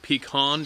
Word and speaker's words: pecan: lots of old pecan, I think it's pecan, it's pronounced pecan down there, pine, oak, and mesquite grow throughout.